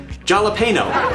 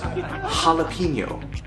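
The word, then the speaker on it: jalapeño: now this looks like when you read it jalapeno and it's actually pronounced jalapeno a jalapeno pepper okay now of course we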